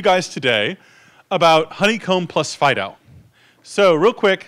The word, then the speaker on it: FD.io: fast data FDI OH typically pronounced Fido and the scope of